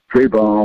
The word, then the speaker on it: Trayvon: Trayvon like Antoine. That's how it's spelled. That's how I pronounce it.